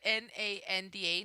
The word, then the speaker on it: Nanda: i i probably have to spell it though spell it okay it's at n-a-n-d-a nanda which is short for fernando and